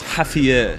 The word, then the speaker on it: Javier: You, baby, Spanish, you don't pronounce the X. Javier.